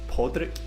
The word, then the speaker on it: Padraig: I've always just called him Podrick. I thought it was Podrick as well. It's spelled like Padraig. Aye, I think you pronounce it Podrick. That's how I pronounced it anyway.